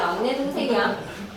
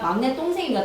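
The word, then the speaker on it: 막냇동생: 동생이라는 순누리말이 만나서 막내 동생이 아니라 막내 똥생입니다. 똥생.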